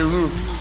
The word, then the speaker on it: roux: A roux. It's a roux, honey. You want to say roux? That X is silent.